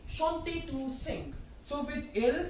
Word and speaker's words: chante: Okay, so, chanter, chanter to sing. So with il, elle, plural, what's the conjugation? Chante, present tense conjugation. Right, so now let's write it. Again, don't pronounce it like chant, it is chante.